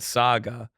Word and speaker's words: saga: think you say it I know you say it Saga Saga Sega you thought it was like Sonic the Hedgehog how do you say Bagels Bagel idiot dummy I know I'm wrong though Saga you just had never said that word out loud Saga yeah you said Sega you said Sega Saga